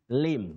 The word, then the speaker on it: limb: Nairobi you say Lim limb the B is silent don't say limb limb